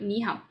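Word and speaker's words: 你好: okay correct very good nihao so knee help actually it's like me and how but this one will be very difficult to pronounce so this one whenever we see like we have like two third tone together then the first one will change it to the second tone so me how you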